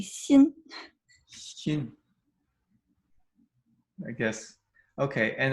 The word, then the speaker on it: Xin: name, the first syllable, the Xin is, we pronounce it pretty close to the way it is, right? Yeah. Um So I prefer to go by because the sh uh the English tongue can pronounce it, but Right. it's actually in between s x is actually in between an sh and an s, Oh, so it's actually Xin.